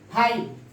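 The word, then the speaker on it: fight: जी एच, जब भी जी एच के बाद टी आ जाए तो जी एच का प्रोनाउंसिएशन नहीं होगा। पहला है थाट, थाट, फाइट, नाइट।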